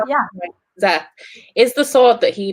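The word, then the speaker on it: Szeth: Is the sword that is, how do you pronounce his name? Is it Sept? Sept? Zeth, yeah. Zeth.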